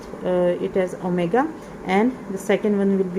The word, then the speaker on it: omega: Okay, so one of them I will call it as omega, and the second one will be called omega square. Okay, omega and omega square. Omega, this is how you pronounce it.